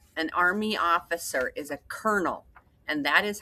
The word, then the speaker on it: colonel: It looks like colonal, but that isn't what this word is. The word is colonel. That is like a a ranking in the army. An army officer is a colonel, and that is how you spell that.